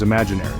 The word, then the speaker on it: imaginary: All together now, imagine, and the third word is imaginary. This word has 5 syllables. imag in Ari. The stress is on the second syllable, ag.